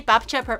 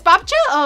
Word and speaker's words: babcia: P P P You You say Bapt It's Bcha.